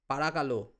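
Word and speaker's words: παρακαλώ: Parakalo. Parakalo. See, whenever I am pronouncing, I am accentuating the vowels. Means you have to stress the vowels. The vowels should sound better.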